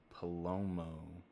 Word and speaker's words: Palomo: Chase could not make it, but instead of Chase, we have Palomo. Spot on pronunciation.